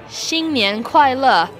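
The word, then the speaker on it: 新年好: Xīnnián hǎo.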